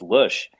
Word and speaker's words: Loesch: Isn't it Dana Loesch? No, It's like John incorrect. Boehner. John All right, Boehner. Incorrect. It's All right, Lush. all right. So she's Where's Kaiser? Pretty sure it's she's German, by the way. You should holding. know that. Yeah, it's a German name. It's Lush.